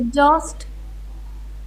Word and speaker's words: exhaust: exhaust. बोलो भारत माता की जय। जय। तो ये जो आप हा का उच्चारण कर रहे हैं ना, यहाँ से निकाल रहे हैं स्वर को। It's wrong.